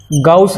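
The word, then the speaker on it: Gauss: अब गॉस theorem लगाते हैं इसमें, अकॉर्डिंग टू गाउस लॉ। इसको कोई गौसला भी बोल देता है, गौसला भी बोल देते हैं, अलग अलग मतलब प्रोनाउंसिएशन है।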